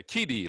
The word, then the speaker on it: Keidi: Yeah, Keidi, like Speedy Keidi.